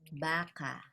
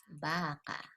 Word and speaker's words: baka: Let's say, for example, a noun, two words, baka. Okay, baka. So the stress is on the first syllable, baka. This is malumay.